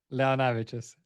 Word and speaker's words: Leonavicius: I'm not even going to pronounce his last name. I'll let him say that. Launavicius.